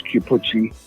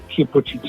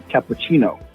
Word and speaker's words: Chiappucci: I called him Cappuccino. I think that he thought I was mocking him, which I wasn't. I just literally just said Cappuccino.